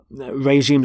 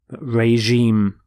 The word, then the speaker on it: regime: is changed to reg regime notice the pronunciation of the G is the sound regime